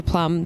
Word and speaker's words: Plumb: And speaking of good doctors, you are here, and I've heard it's just very funny because this is Dr. Plumb. The B is silent.